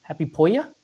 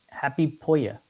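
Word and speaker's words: Hoppípolla: Happy Polya? Happy Polya. H O P P I P O L L A by Seu Roses, I believe is how he pronounced it.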